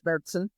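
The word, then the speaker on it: Märzen: the United States um the German pronunciation is meron which is how I pronounce it I don't know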